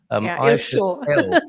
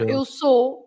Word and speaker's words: eu sou: Eu show. Eu show. Oh, okay, El show. Yeah, and the people there, they pronounce it eu show instead of eu sou.